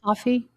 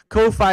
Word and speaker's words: Ko-fi: pronounced coffee? Ko-fi? No, it's Coffee? Ko-fi is Ko dash Fi. That's how it looks, and I pronounce it as such.